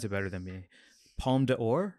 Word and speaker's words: Palme d'Or: And then he won the, please pronounce it better than me, Palme d'Or? Palme d'Or, yeah.